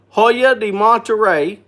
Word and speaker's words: Hoya de Monterrey: say it the monterey that's what it is hoya de monterrey it is made in cuba i'll take this